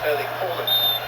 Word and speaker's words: Erling Haaland: view on these things, he was asked to pronounce his name for the World Cup authorities and he said, "My name is Erling Haaland," as his father's was.